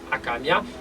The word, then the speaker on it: Hakamiah: nous Somé le 16e Gén pour qui c'est akamia qui s'écrit H a K a MB H qui